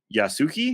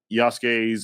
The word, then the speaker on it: Yasuke: missions, Shadows introduces Yasuki. Is that the correct way to say, Job? Yasuke.